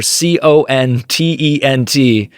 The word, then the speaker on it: content: just writing the letter C O N T E N T and letting people figure it out. How often do you guys hear this mispronounced? It is content, by the way.